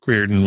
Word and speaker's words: Riordan: It's the Irish spelling, but it's pronounced Riordan. Yeah.